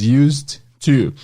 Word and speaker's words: used to: Esse ED vai ter som apenas do D. Used. E aí também nós usaremos a palavra to depois. Used to.